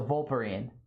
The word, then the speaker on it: Vulparine: The E is silent like Wolverine but fox pill. Okay. So, Vulparine.